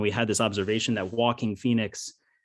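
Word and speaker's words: Joaquin: had this observation that walking phoenix his first name sounds like the word walking so we went and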